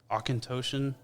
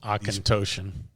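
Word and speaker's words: Auchentoshan: enjoy that one um say that name again Osan aoan a u c h n t o s h a n yep yeah it's going to be a challenge aoan these pronunciations for these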